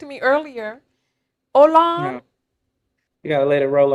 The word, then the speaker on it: Olan: to me it's ol it's pronounced Olan by the way o Olan I feel